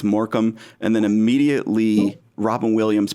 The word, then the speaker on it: Morecambe: of a certain pedigree the first time I saw it spelled I didn't know how to say it uh so I was glad that somebody did say that it was moram and then immediately Robin